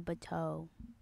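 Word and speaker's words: Bateaux: was just gonna ask how do you spell bato uh to spell bato it's b a t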